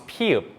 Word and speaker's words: ㅍ: But if 미음 stretch its arms and legs horizontally, then it becomes 피읍, 프 with a P sound.